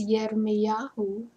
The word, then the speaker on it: Jeremiah: The right way to say his name is Yirmiyahu.